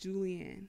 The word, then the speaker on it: Julian: That's pronounced Julian. Your name is Julian. But people still say Julian.